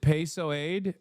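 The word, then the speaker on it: PSOE: You pronounce it PSOAD, but PSOAD sounds so fucking funny.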